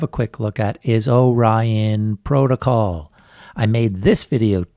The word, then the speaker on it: Orion: that in that video i kept calling it orion protocol but of course it should be pronounced orion protocol so because i love the project so